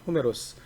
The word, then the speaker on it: 호메로스: 메로스 이렇게 또 이제 그 원래 발음대로 하면 호메로스 이렇게 제가 부르기도 합니다 이 사람인 적을 일리아드